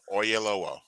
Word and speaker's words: Oyelowo: I'm sorry, I'm going to say his name wrong. David Lio Oleo. Oyelowo.